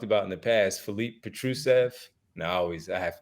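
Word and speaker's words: Petrušev: that we've talked about in the past Philippe petrucev and I always I have we have to check yourself Petra said it's all good the pronunciation of his name Petra Seth uh three potentially four big men behind Joel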